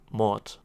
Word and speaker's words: Mord: And I myself, I'm German, and for us at least, the word murder is just Mord. It's just pronounced as Mort, just like the name.